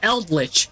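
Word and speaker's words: Eldlich: But anyways, uh, so now his name rhymes with Feldrich. It's Eldrich, right?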